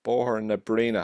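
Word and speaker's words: Bohernabreena: It comes director for Barry Andrews MEP, then obviously South Dublin County Council, Fianna Fáil member, councillor in Fir House, Bohor na Breena. Have I pronounced that right?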